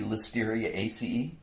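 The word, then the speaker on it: Listeriaceae: You say A and then C, that's the CE. And anytime you see A and E together, you would pronounce that as E as well. So A-C-E. ACE is how you would say that. So there's the family Listeria ACE and the family Clostridiae ACE. Clostridiae ACE, you would actually say it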